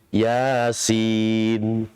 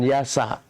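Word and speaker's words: يس: Alif lam mim ra, alif lam ha mim, ya sin, bukan ya sa. Kalau ya sa itu diharakati ya sa tuh.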